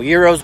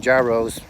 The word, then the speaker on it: gyros: i'm an idiot and i keep saying gyros because it's spelled the g and it's euros anyways i've had something similar